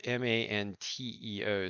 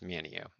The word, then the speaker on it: Manteo: confusion is not enough for you um manio is spelled m-a-n-t-e-o so you could pronounce it Manteo if you're reading it but if you're local here it's Mineo and then rhodev the locals here call it